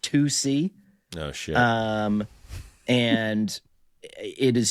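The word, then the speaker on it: tusi: initially pronounced it as tussy, tu si. But then I saw on Twitter that the number two and the letter c are trending. So I think tussy I'm now learning is pronounced tusc.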